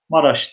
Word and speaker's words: Maraş: Ramazan oğulları ve Maraş taraflarında dahi, evet, Maraş kelimesi biraz orijinal, Meraş şeklinde yazılıyor. Maraş diye okunuyor arkadaşlar.